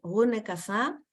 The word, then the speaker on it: René Cassin: René Cassin, su pronunciación en francés es René Cassin, él era un abogado francés.